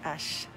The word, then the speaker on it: Xcaret: So when you see these parks with the X or the hotel with the X, that X is pronounced Esh, just so you know.